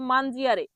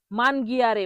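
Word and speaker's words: mangiare: আমরা ইংলিশে যখন উচ্চারণ করি তখন জি কে গও বলি, কখনো কখনো উচ্চারণ করি, কিন্তু ইতালিয়ানে জি কে গ বলা যাবে না, জি কে জ বলতে হবে। তাহলে এখানে মান গিয়ারে বলা যাবে না, বলতে হবে মান জিয়ারে। মান গিয়ারে হচ্ছে ভুল উচ্চারণ, আর ঠিক উচ্চারণ হলো মান জিয়ারে।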